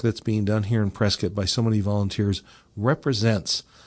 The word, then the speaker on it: Prescott: And when somebody says, yeah, I know I have to pronounce it Prescott, but I don't know why, now you know why.